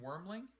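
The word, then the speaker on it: wyrmling: The black dragon wormling. Wormling. Yep, just like worm, except with a Y.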